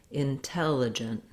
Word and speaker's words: intelligent: And then I have reduced vowels. I would actually write this more as an intelligent, more almost no vowel there. So you can see that in the first syllable, it does sound like the word in, but very, very short. So rather than intelligent, intelligent. It's almost like there's no vowel there, just a short N sound, intelligent.